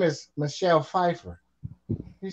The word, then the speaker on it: Pfeiffer: your name is Michelle Pfeiffer she says yeah he says well why the p is silent she says the p